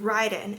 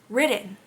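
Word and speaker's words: Riden: And then imagine my surprise when I listened to the audio book and it says Ridden. I thought it was Ryden. It's spelled R I D E N. So, I always like read it as Ryden.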